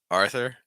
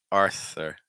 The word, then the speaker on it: Arthur: Noah Noah Arthur Arthur see how weak the th sound th always scares people but the T sound is actually really weak you want tip your tongue down um or against your top front tooth so I'm doing it